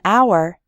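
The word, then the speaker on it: hour: sound but in the word our the H is silent so we say an our we say a non-governmental organization when we say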